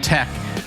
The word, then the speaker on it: Teche: you have a new ep out uh called tech is that how you pronounce it which is uh tech it's tech it tech it's a made up